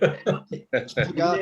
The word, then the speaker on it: Pogačar: And I had to look up how to pronounce that one, I must admit. Pogačar.